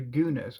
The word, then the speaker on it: guna: elements are called the three gunas are yunus or hunus I pronounce it Guna they are called rajas